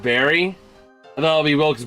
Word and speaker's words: Wilkes-Barre: Personally, it always felt weird to me at the second half of Wilkes-Barre It's pronounced Barry. I thought it'll be Wilkes Bar because I'm so used to silent E's, or Wilkes Bear.